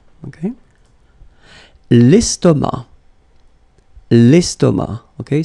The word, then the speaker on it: estomac: L'estomac. Okay, same thing here, final C, not pronounced, and then M means that this word, estomac, is masculine.